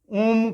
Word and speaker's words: ओम: जैसे ओम का उच्चारण करते हैं, ओम में जो है अ उ म से बना है, अ उ म 3 ध्वनियां, तो तीनों के उच्चारण में 3 मात्राएं लगती है।